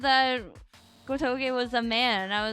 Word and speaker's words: Gotoge: How do you say her name again? It's like Gotoge or whatever. Sorry, I don't mean to say whatever. I love her work. I should not I should not say her name in vain. Yeah, Gotoge, that's right.